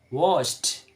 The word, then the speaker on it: washed: But in the pronunciation, or the sound of pronunciation is or the sound of pronunciation is washed, like this. So the d is changed by t.